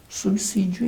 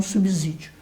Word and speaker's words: subsídio: Isso, portanto, obedecendo essa regra geral da língua portuguesa, essa palavra obrigatoriamente tem que ser pronunciada com subsídio e não subsídio.